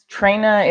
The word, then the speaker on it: Traina: Just out of Traina is a Italian last name. Traina, Traina. That's what my grandfather used to say. How it sounded in Italian.